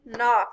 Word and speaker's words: knock: it was not yeah all right knife knee knock say it again what is making the m